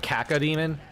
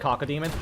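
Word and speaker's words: cacodemon: always heard it's pronounced kaka demon instead of cockad demon.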